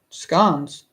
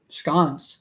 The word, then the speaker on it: scone: okay that's cool pronunciation scans scon so an O can make an a sound I did not know this scon why my